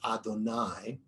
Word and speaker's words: Adonai: The sages pointed out that Yud He Vav He, the name that we give, that we have understood is God's name, and what we pronounce as Adonai, Yud He Vav He also has a gematria of 26.